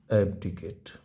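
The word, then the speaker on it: abdicate: चलिए अगला मीनिंग है हमारा एिकेट ए बी डी आई सी ए टी ई इसका जो उच्चारण है इसको बोलते हैं एब्डीिकेट एडिकेट एडिकेट मींस क्या होता है एडीकेट मीन्स होता है त्याग करना।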